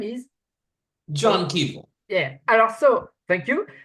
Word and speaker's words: Kevill: It's not the same, exactly the same name. But the name for us in French, it's the same Kevill, pronunciation. Cavill, yeah. Cavill. Yeah, I never thought of that. They're spelled differently, but they do sound pretty similar, come to think of it.